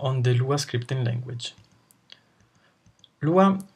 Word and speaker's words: Lua: you an overview on the Lua scripting language Lua pronounce Lua means moon in Portuguese and it is